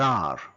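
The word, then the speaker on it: et: It is, that is, adi, idi, say. There is, there are, ikkada undi, unnayi, iliya, and, mariyu, a, we don't pronounce T, a, but, kani, may, we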